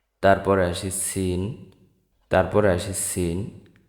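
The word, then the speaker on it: سين: জায়গা থেকে উচ্চারিত হয় সিন উচ্চারিত হয় জিহ্বার আগা সামনের নিচের দুই দাঁতের পেট ও আগার সঙ্গে লাগিয়ে উচ্চারিত হয় সিন সিন সিন সিন তারপর আসি সেনশিন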